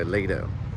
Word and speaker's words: Aledo: mention it's going to a Leo or Leo Leo that's how they say it so not too bad